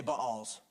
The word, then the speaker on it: Baals: Everybody say Baals. Because there's two weird A's together and we pronounce them both, all right?